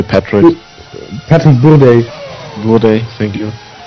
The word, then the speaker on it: Bourdais: Bourdais, thank you.